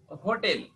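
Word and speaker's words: hotel: না হোটেল হচ্ছে তাহলে যেহেতু এইচ এর উচ্চারণ আমাদের এখানে হচ্ছে দ্যাটস হোয়াই এখানে এন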